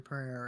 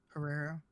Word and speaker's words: Pereira: I'm saying that's not like Izzy or Pereira right now.